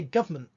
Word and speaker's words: government: often think of gover you say government government government you don't usually put in that n sound it's because the n sound isn't there it's not government however if